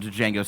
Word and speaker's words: Django: It's like the same scene where like they're at the bar and Django says like spells out his name, but it's like the J is silent.